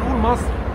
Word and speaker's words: مصر: "i" Pas un "a" Car l"Egypte en Arabe literaire se prononce Misr pas Masr Souvent, nous le prononçons Masr Mais c'est Misr Le logo Le logo